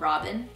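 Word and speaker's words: Robyn: beautiful there was one song on here called robin r-o-b-y-n there's dots so that's why i say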